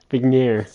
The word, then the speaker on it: Vigne: Vigner. No G, the G is silent.